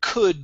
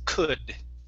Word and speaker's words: could: go to the word could here instead of cold the l is silent it's could could there you go